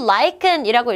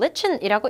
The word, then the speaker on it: lichen: 이거 친구들 lichen이라고 읽기도 하고 lichen이라고 읽기도 합니다.